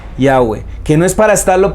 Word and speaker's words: Yahweh: Y de acuerdo a lo que vimos, la pronunciación de las 4 letras hebreas, Yod-Heh-Vav-Heh, probablemente es Yahweh.